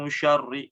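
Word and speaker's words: شَرِّ: Mi syarri, nah, tidak ya. Yang ketiga, menebalkan huruf ro. Ro yang di kata-kata syarri ya. Mi syarri, nah, ditebalkan. Di sini harusnya tipis, membacanya tipis.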